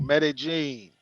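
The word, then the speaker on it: Medellín: Yeah, when a double L is double L is kind of in the middle of the word. It's pronounced with a G. When it's at the beginning, it's like a Y.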